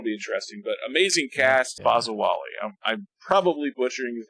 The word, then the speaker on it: Bazawule: That's really weird, but Blitz Bazawule. That's a better pronunciation than I was doing.